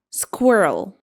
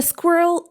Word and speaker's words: squirrel: It should be squirrel. Squirrel. And of course, it's a small animal that climbs. not climbs. Climbs trees and stores nuts. For example, a squirrel ran across the power line and surprised everyone. So, it is squirrel. Squirrel. Yep.